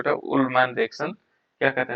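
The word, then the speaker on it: Ullmann: उल्मैन अभिक्रिया कहते हैं, या अल्मैन रिएक्शन भी कहते हैं। कहीं कहीं पर प्रोनाउंसिएशन पर डिपेंड है ना, उल्मैन, उल्मैन भी कहीं पर लिखा होगा उल्मैन, कहीं पर अल्मैन लिखा होगा, ये सब प्रोनाउंसिएशन पर डिपेंड करता है।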